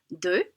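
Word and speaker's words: deux: nasalized so it's ah the x the s aren't pronounced so we have de trois dis notice the t isn't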